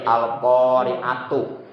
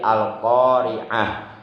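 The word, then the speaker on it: القارعة: Atau itu sebenarnya bukan hanya tak marbutoh, tapi tak marbutoh kalau bacaannya diwakafkan maka berbunyi huruf ha, seperti al-qari'atu. Kalau diwakaf menjadi al-qari'ah, jadi huruf ha.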